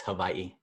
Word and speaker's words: Hawaii: W's are pronounced like a V. There's a tip right there. There's a tip. Tip. It's not Hawaii, it's Hawaii.